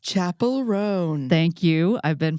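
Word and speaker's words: Chappell Roan: very wonderful pop star whose name is properly pronounced Chapel rone thank you I've been pronouncing her name all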